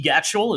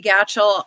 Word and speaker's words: Gatchell: we have uh Vicky gatel is that right did I say your name right Vicky y rhymes with Satchel that's what I always